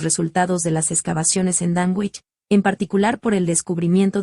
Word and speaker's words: Dunwich: Dunwich, que se pronuncia Dunwich, aún existe en East